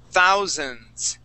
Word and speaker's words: thousands: Mark the word is Thousands thousands thousand okay one more time we're going to say th zans with the a z sound okay let's practice that